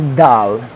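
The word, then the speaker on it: د: We have to pronounce from here. So next one is dal.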